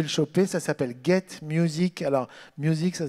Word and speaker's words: Muzeek: Ça s'appelle Get Music. Alors, music, ça s'écrit M-U-Z-E-E-K.